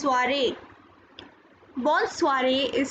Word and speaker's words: soirée: You can see we have two E's and the first E has accent aigu. That is why it is pronounced as soirée.